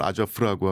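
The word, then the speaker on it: Азов: 있어서 분쟁이 있어왔고 보통 아저우 부대라고 지칭되는 세력에게 아저 아저우 그러죠. 예. 예. 러시아 발음으로 아저프라고 하고 우크라이나 발음 아저우라고 할 텐데요.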